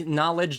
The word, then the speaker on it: knowledge: sense because the like knowledge doesn't have a k sound at the beginning like it's pointless for